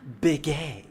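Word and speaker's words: Bikke: of the great Pirates Beacon or B B it's pronounced big AR Neil them boys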